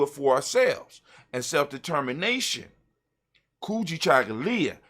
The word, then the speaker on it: Kujichagulia: for ourselves and self-determination kuji chagalya when you say it properly kuji chocolate and just let it ring it rings with the african tone it rings with our